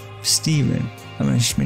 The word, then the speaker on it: Stephen: It's pronounced Steven. Thank you very much. Steven. With a PH.